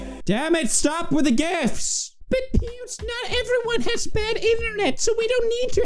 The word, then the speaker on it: GIF: oh snap y'all just got served on the gift topic what else argument do you have for